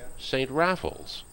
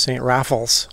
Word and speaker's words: St. Raphael's: in that manner but in the gallic it doesn't flow from the tongue that way it comes out of St Raffles and uh that's how